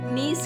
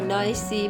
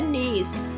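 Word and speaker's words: niece: भतीजी या भांजी को हम इंग्लिश में नीस कहते हैं, लेकिन अक्सर लोग इसको गलत पढ़ते हैं। कोई नाइसी पता नहीं क्या पढ़ते हैं, लेकिन इसकी सही प्रोनाउंसिएशन है नीस।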